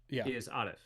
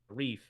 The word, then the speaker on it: Arif: in a big way he's kind of right in that the uh PR iation uh attached to the language that that my name is from Arabic isif right but I don't I don't pronounce it that way and so when I tell people my name I say reef and uh it's just